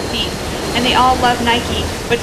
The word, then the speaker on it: Nike: and they all love nike but said it wrong without the long e like bike abby shrugged she didn't